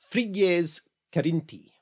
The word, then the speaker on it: Frigyes Karinthy: In his 1916 novel, Voyage to Faramido, the Hungarian author, and I'm going to try and actually do his name in reasonably close Hungarian pronunciation. I looked this up. So, Frigyes Karinthy.